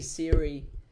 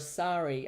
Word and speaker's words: Sari: I um I had some people mispronounce my name and it's cute if they call me Siri instead of Sorry.